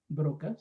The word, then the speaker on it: Broca: en el año 1981 paul broc a brocas se pronuncia así su apellido descubrió algo en el lóbulo